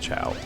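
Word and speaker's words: Chao: I hope I'm pronouncing it right. I'm pretty sure it's pronounced Chow.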